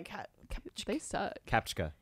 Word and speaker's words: CAPTCHA: be the captcha which i thought was pronounced cache for a really catchphrase yeah why would they spell it like that if it's actually so mean too yeah captcha yeah they're kind of like